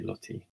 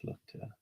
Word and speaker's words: Lotte: I would say Lottie, but I think it's Lotte because, yeah, I pronounce everything with an English accent.